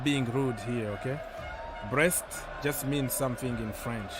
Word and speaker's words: Brest: being rude here okay breast just means something in French so it's pronounced the same way but it's not what you think so h no no